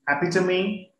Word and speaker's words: epitome: i take the pronunciation pronunciation is wrong pronunciation it should be happy to me and the i could